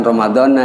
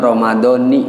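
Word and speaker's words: رمضانِ: Nanti giliran baca niatnya bukan Ramadana, itu Ramadhani bacanya.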